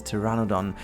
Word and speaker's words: Pteranodon: that there is this Pteranodon flying around. By the way, this one is also really annoying me because of the P at the beginning of the name and why you don't pronounce that.